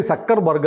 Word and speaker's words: Zuckerberg: അതെ അങ്ങനെ അപ്പൊ ഇനി സക്കർബർഗ് എന്ന് വേണം പറയാൻ ഇസഡ് ഡ്യൂ ആണെങ്കിലും ശരി മനസ്സിലാകുമ്പോൾ നമ്മൾ ശരി പറഞ്ഞു തുടങ്ങുന്നതാണ് പക്ഷേ അത് പറഞ്ഞു കഴിഞ്ഞാൽ പിന്നെയും നോക്കൂ പത്രങ്ങളിൽ സൂംകർബർഗ് എന്ന് കാണും അത് വരും അപ്പൊ ഹനുമാനെ